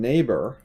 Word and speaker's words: neighbor: Like, so in neighbor, we have this part. And how do you say it? Neighbor. It sounds like an A. So it's a long A sound, but it's spelled with an EI.